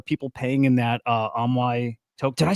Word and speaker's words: AMAI: And there are people paying in that uh Ammoy tok.